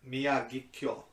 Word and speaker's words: Miyagikyo: you hating you read it how does tim pronounce that it's mia get cure i was close yeah said pretty good Mia kikyo mix loose okay I have a way with